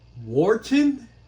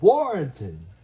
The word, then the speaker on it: Warrenton: Wharton? Dude, that is Warrenton, not Wharton.